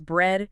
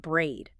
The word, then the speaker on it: bread: It's bread, short E sound, not braid.